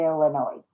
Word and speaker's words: Illinois: Robert, there's only a few problems with a free trip to Illinois. And yes, I did pronounce it correctly.